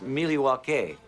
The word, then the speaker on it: Milwaukee: Indian name the espied it is actually it's pronounced Milwaukee which is Algonquin for the good land dice